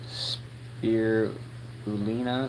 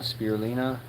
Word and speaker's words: spirulina: Spear bulina. Spirulina.